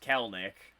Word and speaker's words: Kelenic: so jared kelenik which apparently his name is pronounced kelnick like okay i didn't know that i was